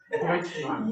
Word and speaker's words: Deutschland: Am I saying it right? Deutschland. Yeah, Deutschland.